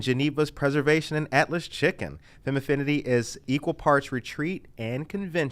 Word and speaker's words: Femaffinity: So it actually, there's some people who've had a hard time pronouncing it. It's just Femaffinity.